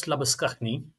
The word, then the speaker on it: Labuschagne: Manus Labuschagne, because that's how you pronounce it in the Afrikaans.